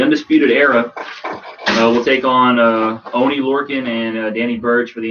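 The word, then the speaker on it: Oney Lorcan: You have the Undisputed Era taking on, I don't know, Danny Burch and One Lorcan. Yeah, Oni Lorcan.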